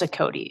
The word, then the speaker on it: Sakot: My last name is actually it's pronounced Sakot. It's a lot easier to say than to see.